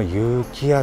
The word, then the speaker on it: 遊喜や: らがその有機屋さんでございます。はい、遊ぶ喜ぶ屋で有機屋さんと読みまして、